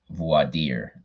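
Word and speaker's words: voir dire: partially and okay so i guess it's voidier i was mispronouncing it but it's the formal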